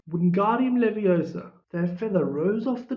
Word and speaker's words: Wingardium Leviosa: Wingardium Leviosa, he shouted, waving his arms like a windmill. You're saying it wrong, Harry heard Hermione snap. It's Wingardium Leviosa. Make the guard nice and long.